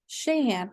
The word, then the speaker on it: Sheahan: me out with out with that Shay ham shahan okay I would have pronounced it totally wrong so thank you for